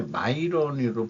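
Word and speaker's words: Miran: 스티븐 미런이라고도 발음하기도 하는데 마이런으로 발음하면 그렇습니다. FD 이사 인준.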